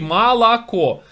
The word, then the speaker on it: молоко: Поскольку, вот слово Москва, да, вы все произносите на манер Москва. Москва, а пишется через Москва, через О букву. И так молоко, а говорите молоко.